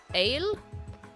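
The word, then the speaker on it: ail: It's close to aye, which means ouch. Ouch. Aye! Like that.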